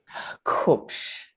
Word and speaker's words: Kupsch: How do you pronounce it? Kupsch, Kupsch.